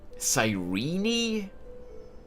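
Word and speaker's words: Cyrene: murderer killed sirene sirene that is a weird name to pronounce that name I would have I I would would have assumed that the the second e would be silent sirene I'm not sure how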